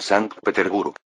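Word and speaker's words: Sankt-Peterburg: Por ejemplo, la nueva ciudad que construyó San Petersburgo, se pronuncia siguiendo el alemán San Peterburg.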